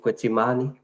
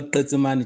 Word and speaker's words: Tetsimani: I see another hand, and that is, how do you pronounce it, Kwetsimani? Please unmute. It's Tetsimani, Chair.